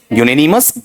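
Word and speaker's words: unanimous: इसका बीच का उच्चारण गलत मत करना। द कमेट वाज़ यून अनमस या यूननिमस? यूननिमस blank it's decision to postpone the examination.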